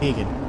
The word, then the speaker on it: Deegan: It's pronounced D and Deegan. G-sound.